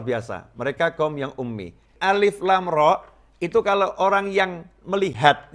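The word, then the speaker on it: الر: tidak tahu baca Alquran maka membacanya bukan Alif Lam ro membacanya seperti orang membaca dalam bahasa Arab akan dibaca alarm Hai karena dulu gak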